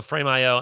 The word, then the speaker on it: Frame.io: Well, and to be clear, so Frameio, and I want to make sure I'm saying it right.